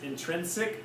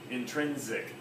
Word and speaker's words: intrinsic: has an Aztec people sometimes say it like an S intrinsic or they also say like a z intrinsic I think both are